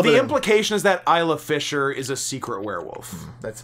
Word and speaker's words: Isla Fisher: Isla Fisher, I believe her name is pronounced. Isle of Fisher. Isla Fisher.